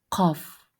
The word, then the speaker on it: قاف: Данная буква произносится при смыкании задней части языка, а также снёбом и голосовых связок. Это та часть, где у нас маленький язычок. Мы смыкаем её. К. А затем произносим звук к.